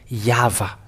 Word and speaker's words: Yahvah: So the YHWH is Vav in it. It's a Vav or V, Yahvah.